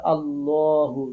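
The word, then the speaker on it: الله: আপনি পড়তে যাবেন তখন আল্লাহ পড়া যাবে না তখন আপনাকে পড়তে হবে আল্লাহু ল পড়তে হবে পড়তে হবে ঠোঁটটা গোল করতে হবে আল্লাহু এরকম ভাবে পড়তে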